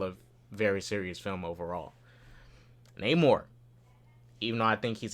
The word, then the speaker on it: Namor: The next time Ramonda, she's in the throne room talking about him, she calls him Namor. You weren't listening? He said Namor. My name is Namor. It's 2 syllables.